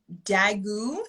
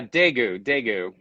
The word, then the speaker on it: Daegu: you are currently in, if I'm reading right, Daegu, South Korea. How do you pronounce We're that? in, yeah, Daegu.